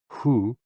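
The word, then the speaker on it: 呼: associated with the kidneys h-o-o pronounced like who which is associated with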